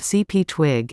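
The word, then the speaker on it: CPTWG: of the upcoming dates CPT WG pronounced CP twig is a venerable presence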